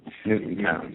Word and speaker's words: Newtown: Newtown, sorry. Newtown. We have to make sure we pronounce that right.